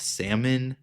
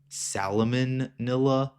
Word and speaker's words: salmonella: I had to look up how to spell that. I did not know it was salmonella. I thought it was like salamonilla.